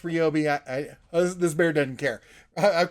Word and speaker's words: Ryobi: But a Ryobi. I know it's pronounced Ryobi.